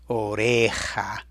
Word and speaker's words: oreja: Oreja. But it also had the rough H sound, which is really a J, buried right in the last syllable there.